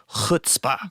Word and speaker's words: chutzpah: You say it, chutzpah. There you go. Dave's Jewish, so he knows how to say it better.